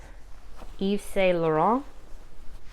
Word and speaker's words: Yves Saint Laurent: So Yves Saint Laurent, that's how you say it.